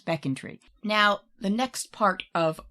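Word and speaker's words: Becontree: twitter last week who told us how to pronounce beckon tree so now when we get to beckon tree i will be saying that correctly as will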